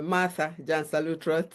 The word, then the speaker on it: Martha Gyansa-Lutterodt: Uh my name like you are rightly pronounced is Martha Jan Salutro and I am a pharmacist uh by training